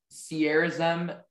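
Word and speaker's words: sierozem: your word is sierra's um sierra's m can i have all the information please sierra's m is the only pronunciation it's a noun it's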